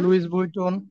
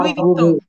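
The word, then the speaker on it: Louis Vuitton: লুইস বুইটন, লুই ভিত্তন এটা Italian না, তারপরে লুইস ওইটা ওইটা ইতালিয়ান না? ওইটা ফ্রাঞ্চেজে। লুই ভিত্তন, ওইটার উচ্চারণটা হয় লুই ভিত্তন।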